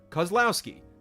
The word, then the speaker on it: Kozlowski: name for future reference my last name is pronounced cuz like just cuz love Lao like cow and ski like downhill skiing cuz Lao ski Kozlowski Kozlowski there you